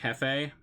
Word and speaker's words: jefe: Spanish, you say it like jefe?